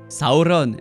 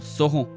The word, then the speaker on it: Sauron: Langage dans lequel les R sont roulés et la plupart des syllabes de fin sont prononcées entièrement, Sauron et non Sauron.